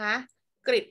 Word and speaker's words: กริช: ดู กริ นะ คะ อาจ เป็น เสียง ริ นะ คะ กริช หมาย ถึง มีด สอง